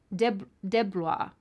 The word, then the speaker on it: DeBlois: DeBlois. That's how he pronounces it. DeBlois.